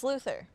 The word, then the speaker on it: Luthor: Lex Luthor. He, It can go Luthor? either way. It can go either way.